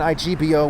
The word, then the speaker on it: Igbo: is ebo spelled backwards ebo spelled two ways IBO and Igbo where the g is silent so we also see